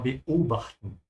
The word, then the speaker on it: beobachten: the way you pronounce this word is that you have to think of it as two chunks. So there has to be a tiny hiccup in the middle. Wir beobachten.